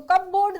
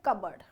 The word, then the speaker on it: cupboard: देखो इसको कपबोर्ड ना पढ़े, इसका सही प्रोनाउंसिएशन है कबर्ड, ठीक है।